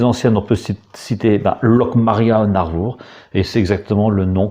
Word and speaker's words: An Arvor: qui se trouve à Narvour, c'est-à-dire sur le littoral. Alors, en breton, le nom c'est l'Armor. En français, le nom c'est l'Armor. En breton, il se prononce Narvour.